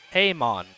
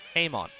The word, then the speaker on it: Hammond: Haymon. Thank you. Ben Howard phonetically spelling Jeff's last name for us. Haymon.